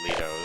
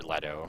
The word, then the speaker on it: Leto: And I was really interested to see how Jared Leto, or Leto, whichever you want to pronounce it as, how his Joker was, and I never got the opportunity.